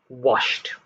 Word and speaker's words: washed: moving on to group b washed one syllable light one syllable watched